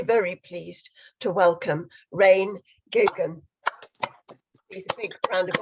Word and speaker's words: Geoghegan: And can you pronounce your name again so that I make sure I say it properly? It's Geoghegan. Geoghegan.